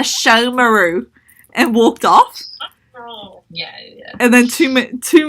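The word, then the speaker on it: Sesshōmaru: like mispronounce the name I called it like such Homer ooh or something and this girl who I had never seen who was walking past me was like oh my god if you like him so much pronounce his name correctly it's a show meroux and walked off and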